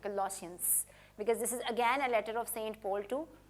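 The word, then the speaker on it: Colossians: कुछ लोग इसे कोलोसियंस कहते हैं, लेकिन अधिकांशतः सही उच्चारण कोलोसियंस ही है। ठीक है? 'श' ध्वनि के साथ, कोलोसियंस।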